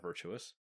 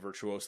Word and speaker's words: Virtuos: four development service provider virtuous no that's not virtuous I kind of pronounce it virtuous I guess you could say it's virtuos yeah we're gonna go with virtuos has announced the launch